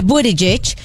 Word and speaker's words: Buttigieg: políticas muy buenas, o sea, el récord de Buttigieg, no sé si lo dije bien, no importa.